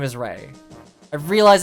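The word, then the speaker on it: Raigh: look I'm sorry I'm gonna be calling him Rye I like I realize his name is Ray I realize it's pronounced like Rey like Raven and Lou like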